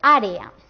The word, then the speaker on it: área: En la palabra creer tenemos dos Es, o sea, dos vocales fuertes. Como son dos vocales fuertes, forman un hiato, así que se tienen que decir, que pronunciar en dos sílabas diferentes.